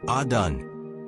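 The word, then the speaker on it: אדון: Text Strong's Hebrew number 111 Adon transliteration Adon pronunciation adon meaning lord master sovereign ruler.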